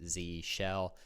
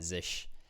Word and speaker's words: zsh: Some people pronounce it Z shell. I like to call it zish.